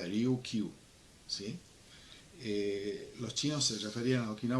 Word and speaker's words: Ryukyu: En esos momentos la identificación era como Ryukyu, que en kanji y en japonés se escribe igual que en chino y se pronuncia Ryukyu, ¿sí?